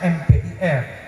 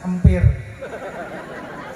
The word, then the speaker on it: MPIR: Nah itu bacanya MPIR, banyak MC membacanya empir.